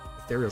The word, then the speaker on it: ethereal: Ethereal sounds like adorable. It's the same syllables.